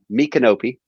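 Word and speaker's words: Micanopy: road race was in uh me canopy okay which is spelled my canopy and uh you sit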